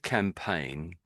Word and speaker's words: campaign: So it's it's sort of as if we're saying can and then you have a pain in your leg or something.